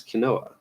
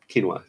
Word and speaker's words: quinoa: that but now it's Kanoa quinoa yes quinoa quinoa I know how to pronounce that I don't know why I'm mispronouncing it okay so quartz publications